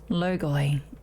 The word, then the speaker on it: logoi: Defeat 3 kinds of logoi? Logoi. And recover a visage of their flames. Okay. Ancient Greek for word, 나르호라나? Check. I'm actually gonna see if I'm pronouncing it right, because it's a short